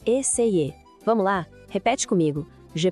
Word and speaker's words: essayer: A pronúncia de essayer é meio essayer.